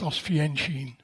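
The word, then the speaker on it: Oświęcim: see outfit on it you'll see that it's pronounced oenin now we look at the business of housefit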